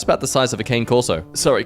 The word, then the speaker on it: cane corso: It's about the size of a cane corso. Sorry, correct pronunciation.